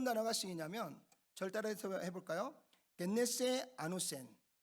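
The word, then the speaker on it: γεννηθῇ ἄνωθεν: 겟네세 아노센. 발음하기가 쉽지 않죠?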